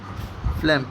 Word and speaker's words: phlegm: आप लिख सकते हैं फ्लैम, PHLEGM, फ्लैम इसको पढ़ते हैं। फ्लैम मीन्स बलगम या कफ कह सकते हैं, स्प्यूटम भी बलगम होता है। इसको क्या पढ़ेंगे, आदाफा लाम ले मास फ्लैम, जी साइलेंट रहेगा, ठीक है।